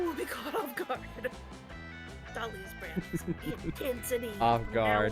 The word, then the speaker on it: Dahlia: Dahlia is definitely pronouncing the H in her name, but she doesn't use a typical H sound. Instead, she uses a guttural scream summoned directly from the depths of hell.